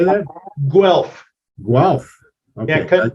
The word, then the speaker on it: Guelph: he was born in Goole well how do you say that Guelph Guelph okay convert the U to a w and you got it Guelph Guelph okay that's